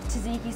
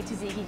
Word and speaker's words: tzatziki: Up next on the menu, we are making calamari with tzatziki sauce. Now, Kate, Chef Bob, I'm gonna let you say tzatziki because I don't say it right.